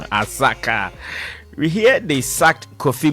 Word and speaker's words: Asakaa: guys in kumasi aka someone just showed me how to pronounce it well um what's the name smart doggy smart doggy says they are called asaka asaka we hear they sucked